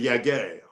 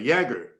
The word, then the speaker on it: Jágr: So we went with Jaromír Jágr and not Jaromír Jágr. But a lot of French reporters will say Jágr.